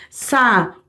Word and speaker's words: saúde: Mesma coisa com a palavra saúde, ó. Sa-u-de. Esse U tá separado em uma sílaba só, porque se ele estivesse junto com o sa, você ia falar o quê?